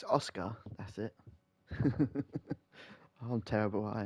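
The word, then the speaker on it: Asuka: Oscar isn't it Oscar I don't know why I keep saying usaka it's Oscar that's it I'm terrible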